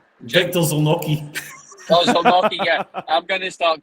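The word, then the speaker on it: Zieliński: Oh, Zelensky, yeah.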